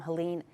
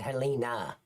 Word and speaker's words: Helene: The uh Chimney Rock and Lake Lure suffered some of the most severe damage from Helen Rutherford County. That's how you say it. Helen, not Helina.